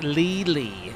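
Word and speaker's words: Lely: It's pronounced Lily.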